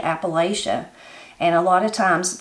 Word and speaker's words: Appalachia: my opinion about it whoever taught you how to say Appalachia that's how you learn how to say it so how could it possibly be wrong when I was taught to say Appalachia I was taught to say Appalachia not Appalachia it's the same thing as